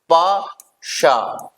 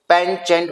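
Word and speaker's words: penchant: Next one इज, इसका pronunciation होता है गाइस पाशा, पाशा। इसका गाइस पेन चेंट मत पड़ेगा, पाशा इज the pronunciation of this word.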